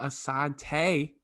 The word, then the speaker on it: Assante: Episode 12, and we finally got our first female, and ironically it has to be an alumni, Sarah Assante.